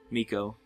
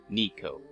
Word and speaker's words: Nico: are both so go miko written down i don't i don't know why i keep saying it wrong nico and nico oh anyways